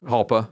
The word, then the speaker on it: Jalpa: Jalpa or Halpa. Yeah, Halpa. One of those. Halpa, Jalpa. One of the small ones. Jalpa, but the J is silent. I know. Even though it's Italian, not Spanish, but I get it.